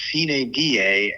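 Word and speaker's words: sine die: your host will dubos the legislature officially adjourns siny die on Monday June 3 and for those of you who skipped Latin class like me sin die is actually pronounced Cen da and means without day this session has been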